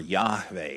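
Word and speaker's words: Yahweh: came up with this spelled it with a J because they pronounce it like a Y, right? Yavol spelled with a J. Uh so Jehovah or Yahave is the name of God.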